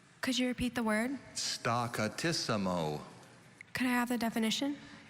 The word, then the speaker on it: staccatissimo: the word again staccatissimo are there any alternate pronunciations i only see staccatissimo okay staccatissimo s t